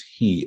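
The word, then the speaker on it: היא: nevertheless the pointing right the tradition that we have is that we're supposed to pronounce it as he as a feminine as the feminine pronoun for the soul of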